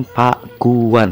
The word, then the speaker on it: Pakuan: Sunda itu arti kata itu diucapkan Pak Guan bukan pakuan ya jadi pakuan yang berarti